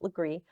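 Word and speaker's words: Legare: that second book, which is The Girl on Legree Street, which is spelled Laguerre, but it's pronounced Legree.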